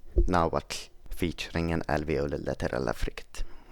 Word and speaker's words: Nahuatl: Lateral fricatives and affricates for their part can be found in languages like Nahuatl, or how they say it, Nahuatl, featuring an alveolar lateral affricate.